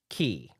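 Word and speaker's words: Unchained χ: The X in Unchained is also pronounced key.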